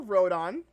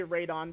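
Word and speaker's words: Rodan: We got the 1956 movie for Rodon, aka Radon, depending on how you want to say his name, because Radon makes more sense, but whatever.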